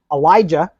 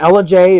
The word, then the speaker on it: Ellijay: Now, my favorite pronunciation of it was Elijah. I heard a lot of that when we were down at the Florida Super Show. Uh-huh. But yeah, Ellijay, it's a Cherokee word.